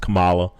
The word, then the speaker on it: Kamala: Indians say that name is pronounced Kamala.